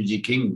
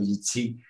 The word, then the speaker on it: Yi Jing: On avait beaucoup l'habitude de prononcer King. Alors tout le monde dit tu fais du Yi King, oui, voilà, le Yi King, le Yi Qing. Et il y a donc une prononciation que je ne sais pas refaire toujours exactement. Donc on s'en tiendra à quelque chose d'intermédiaire entre T, S et K.